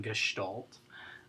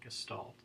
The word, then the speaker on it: Gestalt: Extra credit for the Stalt in Gestalt. That is the correct pronunciation of it. Oftentimes people call it Gestalt.